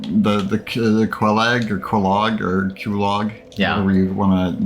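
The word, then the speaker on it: Quelaag: I call her Quelag. It's Queelaag. I forgot. It's a Kulog. It's Kulog. I don't care. That's the way I was pronouncing it for a long time.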